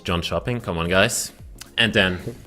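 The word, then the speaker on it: Jönköping: 13 to 15 em in John shopping obviously not J shoing obviously the pronunciation is John shopping come on guys and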